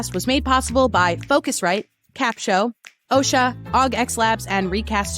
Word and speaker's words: Capsho: say what what is capshow how do you spell that so let me make that very clear it's capshow c-a-p-sh-o capshow recast studio is what we use